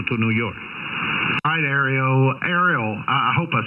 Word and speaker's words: Ariel: name for Mel I don't want to pronounces mispronounce it what's your name and the name is Ariel Alfa Romeo India echo Lima you prefer you could call me Ariella which whichever is easier for you about to